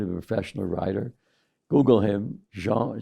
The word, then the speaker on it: Jean: is a man named Jean pronounce it like in French Jean g a n